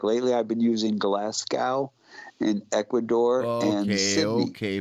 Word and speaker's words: Glasgow: Glasgow. Go. Yes, forget the W. Just think Glasgow.